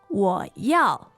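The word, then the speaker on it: 我要: 我要我要.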